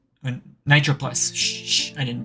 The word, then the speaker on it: Nitroplus: Nitropolis? Nitroplus. Shh, I didn't pronounce that wrong.